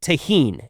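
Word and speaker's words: Tajín: it, but that is the seasoning taheen. It is spelled T A J I N.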